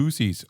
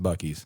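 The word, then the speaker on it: Buc-ee's: way it's called buckies everyone goes why'd you go to boosies what's boosies yeah guys that's pronounced buckies yeah bucky's like bucky beaver uh the the big beaver that's on the placard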